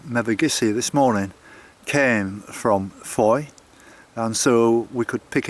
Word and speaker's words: Fowey: I'm more likely to drive to Fowey, or should I say Foy. It's spelt F-O-W-E-Y, but it's pronounced Foy apparently.